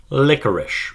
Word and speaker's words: licorice: Licorice, pronounced like liquor but not spelt like it.